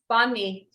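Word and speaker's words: bánh mì: How do you pronounce that? Banh mi? Banh mi.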